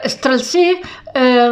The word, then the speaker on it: Streltsí: Ellos van, los Streltsí, porque tiene acento en la I, son agudas, es la palabra aguda, el Strelts en singular.